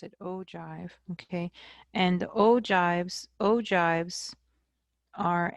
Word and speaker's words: ogive: Okay, now if I do a little sketch for the ogive, I'm going to put that right here.